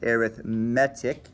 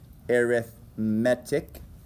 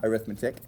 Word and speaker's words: arithmetic: It looks like the word arithmetic, but it's pronounced arithmetic with the emphasis on the third syllable arithmetic, not arithmetic because it has a common difference.